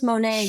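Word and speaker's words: Monet: rhymes with show sh does that help it rhymes with totalan Mo Monae Monae oh of course Monae but him and I have a thing where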